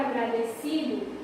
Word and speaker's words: agradecido: Então, na palavra agradecido, eu localizei aqui a sílaba tônica como sendo a si. Então, aqui eu tenho uma paroxítona, certo?